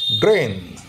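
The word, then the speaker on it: drain: কিন্তু একচুয়ালি উচ্চারণটা হচ্ছে ড্রেন ড্রেন এ এবং তারপরেরটা অর্ধ ই এর উচ্চারণ হবে ব্রেইন বি আর আই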